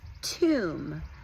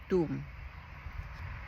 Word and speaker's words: Toom: costu it is called Tom garlic dip which I think with the accent they pronounce it Doom garlic dip flavor like